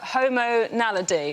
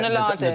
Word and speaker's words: Homo naledi: The Homo naledi, or naladi. Nadali. Homo nadali, yeah. Nadali. Homo naledi.